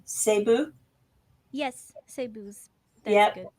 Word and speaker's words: Cebu: I have some good friends who live here in Tokyo from, correct me if I say it wrong, Cebu.